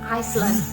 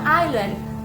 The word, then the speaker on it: island: Nah, banyak orang yang pemula bacanya itu Iceland, I don't know. Dan kamu ketika ngobrol sama native speaker, karena otak kamu, pikiran kamu selalu menganggap bacaannya itu adalah Iceland, maka kamu akan selalu tidak mengerti ketika bule itu mengucapkan island.